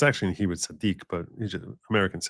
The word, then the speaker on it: tzaddik: Tzaddikel is not a derogatory thing, just so you know.